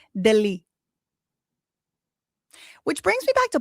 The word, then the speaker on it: Delhi: New Delh High. They don't pronounce it like that. You know how they pronounce it? Delhi.